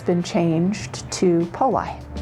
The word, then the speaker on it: Poli: So like roly-poly, but over the years it's been changed to Poli.